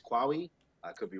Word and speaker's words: Qawi: I believe pronunciation is Qawi.